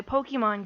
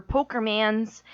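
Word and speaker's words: Pokémon: Yeah, he actually did steal my Pokemon game, but he actually mispronounced everything. So Pokemon were Pokermans, and every single Pokemon in existence was known as Pikachu.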